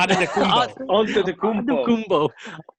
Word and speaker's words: Antetokounmpo: Antetokounmpo.